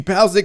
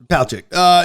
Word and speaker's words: Palchik: I mean, you had the Amy Pasek move. Am I saying it wrong? I'm saying her last name wrong. Palchik.